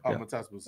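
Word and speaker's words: Matas Buzelis: Matas Bozilis.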